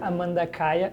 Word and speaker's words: Amanda Kaya: very happy to to have with us here Amanda Kaya did I pronounce it right y good she's a guitarist